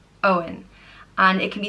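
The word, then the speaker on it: Eoghan: or God's gift and it's pronounced o in Owen and it can be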